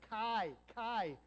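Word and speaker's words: χ: La X es una palabra griega. Es la CH, que se pronuncia Kai.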